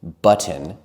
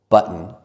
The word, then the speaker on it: button: We can say kitten, button, and smitten, but it doesn't sound as natural as saying kitten, button, and smitten.